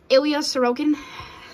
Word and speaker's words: Ilya Sorokin: We got the Ilya Sorokin.